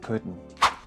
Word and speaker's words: couldn't: Justo después de dejar tu lengua pegada al paladar al final de pronunciar could, vas a hacer este sonido Couldn't.